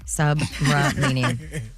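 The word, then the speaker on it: Subramanian: Submarinian.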